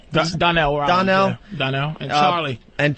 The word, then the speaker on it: Donnell: Is it Darnell? Donnell.